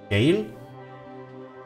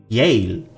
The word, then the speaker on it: Yale: do i spell it gail it's not means jail like prison jail yale i think it's spelled yale sorry il is in